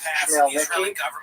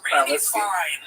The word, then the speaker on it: Khmelnytsky: this man, Bogdan Khmelnytsky, sometimes horribly mispronounced Chmielnicki because that's the Polish spelling with an American pronunciation, but the actual pronunciation is Chmielnicki, led an uprising of Ukrainian peasants against their Polish overlords.